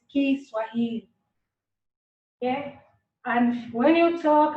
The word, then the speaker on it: Kiswahili: Popularly in English they say Swahili, but we pronounce it as Kiswahili.